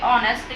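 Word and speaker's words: honest: हा ओ एन एस बीच मैं हा लगता है पर हम बोलने में इसको साइलेंट करके ऑनेस्ट कहते हैं इसी तरह यहां पे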